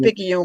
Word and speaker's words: Picayune: drove by is it pika you picayune how do you say it anyway you said it's all right and bless your heart this is picking you we call it picky you mississippi because on that nationwide